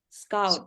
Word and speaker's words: scout: Scout. Ya. Scout. Kalau scoot itu ada scoot beda lagi. Kayak scooter. Yes. Ini caranya scout.